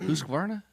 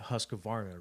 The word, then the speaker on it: Husqvarna: Husqvarna. So, I got torn apart because in the video, you know, I don't know. I grew up calling it Husqavarna, right?